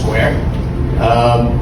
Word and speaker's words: Sqr: So it's SQR, they pronounce Square.